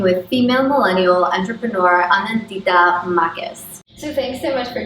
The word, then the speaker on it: Makes: Marcus. Marcus. Yeah. Marcus. Okay. Anandita Marcus. Anandita Marcus. Mm-hmm. Yeah. I would have said Megs. Yeah, people in America call me.